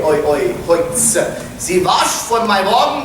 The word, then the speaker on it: Holz: You'll find that OL in Bavarian is always pronounced like a oi, oi, oi, Holz.